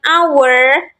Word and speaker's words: hour: hour Nah di sini H atau H ini termasuk silent letter jadi kita bacanya pada huruf setelah H itu kan hour gitu ya di hour our ini pengucapan vokal Jadinya pakai n nah Apakah sampai sini